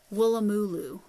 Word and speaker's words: Woolloomooloo: Oh, and I know how to pronounce this because Sam from Australia, Sam by hook or by needle, said it's Woolloomooloo, and it's a city in Australia, or a